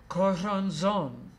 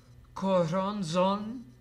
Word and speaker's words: Corazon: Corazon, also known as 333, also known as Lord of Hallucinations. Mysteriously, his name is pronounced almost the same way as the Spanish word for heart, corazón.